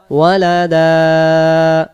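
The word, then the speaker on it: وَلَدًا: ওয়া ইউযিরাল্লাযীনা ক্বালু ইত্তাখাযাল্লাহু ওয়ালাদা, ওয়া ইউযিরাল্লাযীনা ক্বালু ইত্তাখাযাল্লাহু ওয়ালাদা, ওয়ালাদা এক আলিফ টান, ওয়ালাদা।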